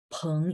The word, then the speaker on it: 朋: Oke, 再来我们看一下12 12 朋友 peng ya. Jadi P bacanya PH, ada angin.